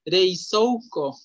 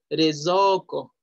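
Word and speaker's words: れいぞうこ: No vamos a decir reizouko, reizouko, no. Re, la E y la I es E. So, la O y la U se pronuncia O y ya ko. Rezoko.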